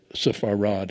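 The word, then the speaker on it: ספרד: Um, Sphartic Jews are Safharad is how you say Spain in Hebrew.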